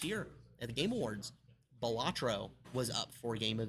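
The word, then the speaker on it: Balatro: Bolatro. Batro. I just remember that little interview dressed up as the jester. Yeah, that was like I was informed it's actually pronounced Batro.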